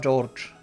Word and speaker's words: George: Pronounced Ushiromiya George.